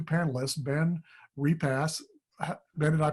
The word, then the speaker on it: Repass: And so we're going to tell you a couple of stories tonight from our 2 panelists, Ben Repass. Ben, did I pronounce that right?